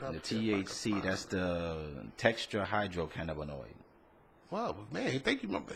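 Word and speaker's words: tetrahydrocannabinol: The THC, that's the tetrahydrocannabinoid. Wow, man, thank you. Say it again. Tetrahydrocannabinoid. That's how you pronounce it.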